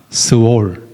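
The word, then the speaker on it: 스올: 스월. 스월이라고 부릅니다. 히브리 발음도 스월이고 한국 말도 스월이에요.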